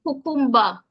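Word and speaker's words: kukumba: Now, I like this word because in the first syllable, you have ku. In the second syllable, you have kum. Notice you still have the ku in there. Hence, you have ku and then ku again, followed by the M, and then ba. So the short A sound.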